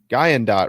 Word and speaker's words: Guyandotte: Now, how do you pronounce this? The Guyandotte River? Guyandotte River.